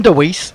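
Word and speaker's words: Dwarshuis: sha Abott Ben DW heis I think that's how you say it deise apparently disis deise oh that's easier then D it's a lot easier I heard Mitch Marsh say his name Ben deise and then Adam Zamba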